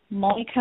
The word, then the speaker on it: Monika: But I will also just mention that I have my own website, which is Monika Morani. So that's M-O-N-I-K-A. Morani is spelled M-U-R-A-N-Y-I.